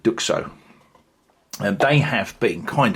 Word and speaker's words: Duxot: Um, yeah, I've heard quite a few different pronunciations of the brand uh on uh on other YouTube channels uh reviewing this brand. Um, but I'm going with Duko and they have been